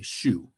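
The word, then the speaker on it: 酒: or you can say shu it sounds just like the shoe on your foot so sake yarchu are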